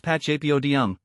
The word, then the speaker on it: Pachypodium: help you master it pacap Podium pronounced pachap Odum comes from the Greek